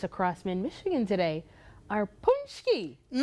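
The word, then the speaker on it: pączki: Pezaski. Pezaski. I think I pronounced it four or five different ways. But you've now you know it's punchki.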